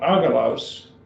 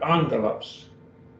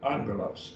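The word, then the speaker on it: ἄγγελος: okay questions we have another rule here obama before a copper or before another one for ki or kasi is to be pronounced as an ng sound and not ogalos but angelus angelos angel messenger now i'm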